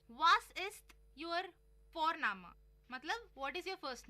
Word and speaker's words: Vorname: और जर्मन में हम जिस तरह से लिखते हैं, लिखना और प्रोनाउंसिएशन अलग होता है, तो इसलिए तुम सी साई में कंफ्यूज हो जाते हो। और हम यहाँ पे फोरनामा प्रोनाउंस करते हैं बट लिखते हैं उसको VORNAME। ओके, तो वो हम इंग्लिश के अनुसार प्रोनाउंस करेंगे तो बनेगा वॉरनेम, बट नो, इट्स फोरनामा।